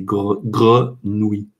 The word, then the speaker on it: grenouille: et pour les infos pour les anglophones c'est un mot horrible parce que avec le r avec le oui à la fin c'est très très difficile à bien prononcer les 8 ces grenouilles grenouille crown winneway c'est